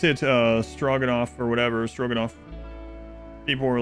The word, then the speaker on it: stroganoff: It's pronounced I ate it all. Stroganoff.